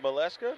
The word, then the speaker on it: Maleshka: How do you pronounce that? Was that Maleshka? Yes. Yeah, there you go.